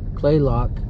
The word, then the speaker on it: Kalaloch: sub-camp came back to what we now know how to pronounce as clay Locke campground and where this